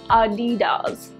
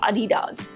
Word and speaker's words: Adidas: sports equipment i think i'm pronouncing editors incorrectly because germans pronounce it as adidas that is adidas okay now let's talk